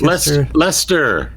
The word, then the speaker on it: Leicester: Lester, how do you pronounce that? Lancaster. like Lester. There's no there's no s there. How could that be Lester?